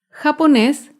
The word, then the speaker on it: japonés: con la palabra japonés japonés es una palabra aguda se acentúa en la última sílaba y lleva tilde porque termina en la consonante ese japonés un ejemplo de una